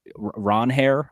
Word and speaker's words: Ranger: I like that they got you know, Ranger Suárez or Ron Hair, I believe is how it's actually pronounced.